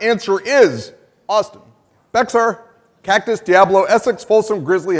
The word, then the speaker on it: Bexar: correct answer is Austin Bexar Cactus Diablo Essex Folsom Grizzly Havana and Ice House and that's why they put Mark in charge of the foundation it's actually pronounced bare so that was trying